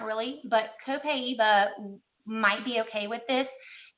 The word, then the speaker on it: Copaiba: Copaiba? Copaiba.